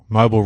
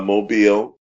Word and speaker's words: Mobile: It's Mobile Revelers? That was Mobile. Mobile, oh, gee.